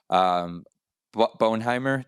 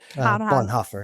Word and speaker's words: Bonhoeffer: it really is allegoric to the story of Bonheimer. Did I say it right? Bonhoeffer.